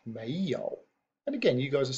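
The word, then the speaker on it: 没有: know if we use those two characters which are pronounced Mayo and again you guys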